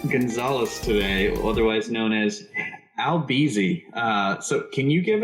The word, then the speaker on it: Albeezy: we're introducing albert gonzalez today otherwise known as albizi uh so can you give us the uh the correct pronunciation of your police moniker it was there's no r don't trust new because he's